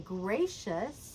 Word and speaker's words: gracious: So your pitch and also kind of the stress is going to be on gracious.